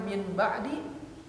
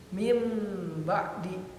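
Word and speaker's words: من بعد: Asalnya min ba'di menjadi mim ba'di, nunnya hilang karena diidghamkan ke ba, jadi huruf mim.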